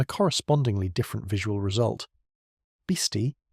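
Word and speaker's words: Bisti: Bisty, pronounced roughly bestie, is a Navajo word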